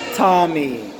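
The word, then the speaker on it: טָמֵא: is it is spelled cime and it is pronounced Tommy it means fall in our little sense define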